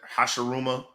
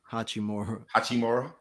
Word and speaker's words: Hachimura: You had Hashiruma. What's his name? How you say his name? Hachimura.